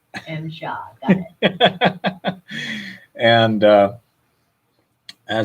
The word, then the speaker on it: MSHA: It's pronounced MSHA. MSHA, got it.